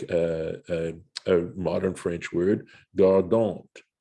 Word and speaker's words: gardant: a modern French word, gardant, right? Guarding. I think the ant ending in French does indicate a participle. And yeah, but it's pronounced gardon. Okay. Okay. No T in the pronunciation.